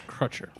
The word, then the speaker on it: Crutcher: I'm not familiar with how to pronounce it. It's Crutcher.